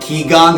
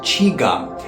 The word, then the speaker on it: qigong: A lot of you mispronounce it. You're calling it Gi Gong. It ain't Gi Gong. Don't call it that, okay? But it's Gi Gong.